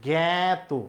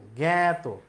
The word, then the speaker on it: জ্ঞাত: এখানে আছে আ, কিন্তু উত্তর হবে এর মতো, উচ্চারণ হবে এর মতো, জ্ঞাত, জ্ঞাত।